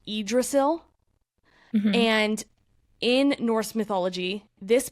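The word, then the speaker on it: Yggdrasil: it's also called a world tree and it's pronounced idrasil and in Norse mythology this book is an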